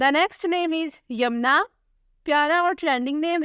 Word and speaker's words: Yamna: The next name is यमुना। प्यारा और trending name है, स्पेलिंग है YAMNA।